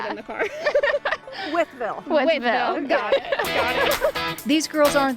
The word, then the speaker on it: Wytheville: Wytheville? I thought it was Wytheville at first, but we were debating how to pronounce it in the car. Wytheville. Wytheville.